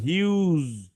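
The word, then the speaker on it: huge: না তাইলে হিউ বলছে হিউ বাট এটা কিন্তু হিউগ হবে না। এটা হবে হিউজ জ হবে।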